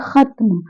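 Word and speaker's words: ख़त्म: तो अब ये हम पढ़ेंगे खत्म। इसे खत्म नहीं पढ़ेंगे क्योंकि यहाँ पे खा नहीं है। इस बिंदी के लग जाने से ये फारसी भाषा का अक्षर बन गया है और यह है खत्म, और ये शब्द भी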